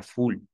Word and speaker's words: foule: equivoqué es el francés palabra francesa outles multitud se pronuncia full la palabra también full